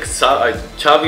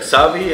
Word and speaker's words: Xavi: X가 차비로 이렇게 발음된 아.